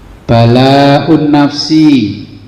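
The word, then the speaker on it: بلاء النفس: Bal yaqulu, ya, tetapi dia berkata, balaun nafsi. Jadi bal itu ditambahi alif sama hamzah ya, jadi bacanya balaun nafsi.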